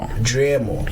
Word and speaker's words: Driemo: Which one is the correct pronunciation? Driemo.